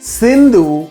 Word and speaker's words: Sindhu: that stretched into the Indus Valley. It was also called the great Indo-Greek kingdom. After Darius, Alexander the Great invaded India. It was Alexander who mispronounced Sindhu as Indu.